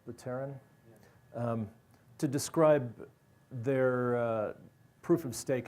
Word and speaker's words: Vitalik Buterin: So Casper is used both by Vlad Zamfir and by Vitalik Buterin, is that how his name is pronounced? Buterin?